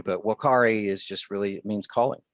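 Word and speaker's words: vocare: the root word is wakare where the v is just pronounced like a w but whalkari is just really means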